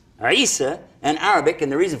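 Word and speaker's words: عيسى: the word Issa his name in Hebrew is pronounced Isha or Yeshua and it's Isa in Arabic and the reason for that is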